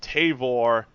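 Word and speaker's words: Tavour: beer that's right a new beer app called tavore love these guys I got to spell it out for you guys because I I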